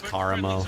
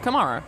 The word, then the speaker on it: Karamo: It's Karamo. Come That's on. exactly. It's Karamo. Whatever. Absolutely, it is Karamo. Well, Anna, who do you think is the hottest? Kamara.